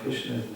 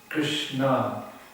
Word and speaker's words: Krishna: Because humility will give you the ability to actually taste Namaruchi, the sweet flavor of Krishna's name. That's really where the nectar is. It's there in these two syllables, Krishna.